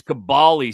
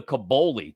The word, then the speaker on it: Kaboly: It's Kaboly. It's Kaboly, says Rick. That's the way it's pronounced. But everybody Rick Barry. everybody loves to give you the Kaboly too.